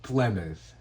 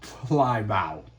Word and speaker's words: Plymouth: Man, I gotta forgive him for that pronunciation because I used to pronounce it that way too, but bro, it is pronounced Plymouth, not Plymouth.